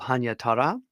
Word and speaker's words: Hannyatara: was a person called Hannyatara. Well, of course, that's the Japanese pronunciation.